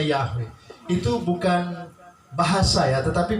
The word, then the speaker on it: Yahweh: nama aslinya itu yahoo kalau dalam tulisan ibrani yo hai tapi bacanya yahweh itu bukan bahasa ya